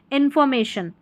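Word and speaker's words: information: ए को में और टी आई ओ एन साथ में ही होगा जब भी आए क्योंकि आई और ओ को साथ में अ पढ़ा जाता है। शन हो गया। इंफॉर्मेशन इंफॉर्मेशन ऐसे ऐसे करके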